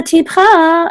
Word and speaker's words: tipcha: Et hashamayim, and tipcha is also only two syllables. Tipcha. So everything that comes before the